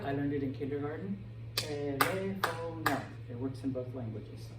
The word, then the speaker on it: teléfono: But because we have an accent mark on the E here, this word is teléfono.